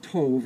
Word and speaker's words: tov: the glass is broken we all shout masle Toof means it's actually pronounced Tove and it it means good and if you